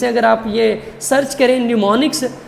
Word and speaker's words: mnemonics: सकते हैं जिन्हें हम निमोनिक्स कहते हैं यह से स्टार्ट होता है तो लेकिन एम साइलेंट है यह निमोनिक से निमोनिक्स